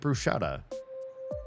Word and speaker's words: bruschetta: If you look at how it's spelled, there's no sh in the word. So, where are you pronouncing it? Bruschetta.